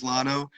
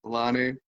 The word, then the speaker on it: Lonno: you know um i my preference is lano just because um the way that my name is spelled is very misconceived misunderstood for um lonnie and uh it's actually